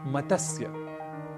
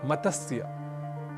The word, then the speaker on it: मत्स्य: साथ करना होता है अक्सर हम शब्द का गलत उच्चारण कर बैठते हैं और कहते हैं मतस्य मतस्य पालन इस तरीके से कुछ हम शब्द करते हैं मतस्य केंद्र इस तरीके से कई अशुद्ध उच्चारण हम कर बैठते हैं क्योंकि त स और य ये तीनों ही व्यंजन वर्ण है और इनके मध्य कहीं भी अ या स्वर वर्ण नहीं है इसलिए मतस्य कहना तो अशुद्ध है हमें इसका उच्चारण करना चाहिए मत्स्य और संस्कृत में मत्स्य